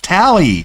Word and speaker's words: Tali: Like, no one told him that her name was pronounced Tally, or Tali. It's Tally. It's always pronounced Tally in the game.